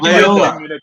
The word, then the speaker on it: Loyola: Loyola. One day. It's like Toyota with L's.